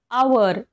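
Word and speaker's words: hour: असलेले आपण एक्झाम्पल्स बघूया आवर आवर म्हणजे काय तास आपण स्पेलिंग काय आहे एच ओ यु आर आवर पण आपण याला हावर म्हणतो का नाही आवर म्हणतो इथे एच काय आहे सायलेंट आहे तसंच सेकंड लेटर सेकंड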